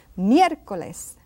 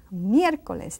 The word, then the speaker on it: miércoles: And then we have a long one, miércoles. Miércoles, that E is accented, so it's miércoles.